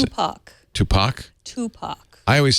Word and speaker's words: Tupac: I'm sorry I pronounced 2pac wrong how'd you pronounce it Tupac I always say 50 cents and then I